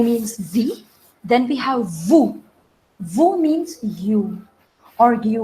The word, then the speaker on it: vous: So we are not going to pronounce S. So it will not be noose, it would be nu. The next is vous.